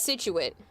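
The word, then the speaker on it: Scituate: Think about how you might pronounce this. Nope, it's Situate.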